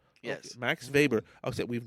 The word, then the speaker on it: Max Weber: Max Weber? Yes. Okay, Max Weber. Okay, we've not done With a a W. Mm-hmm. W. Okay, but it's Pronouncing it German style. I was doing German.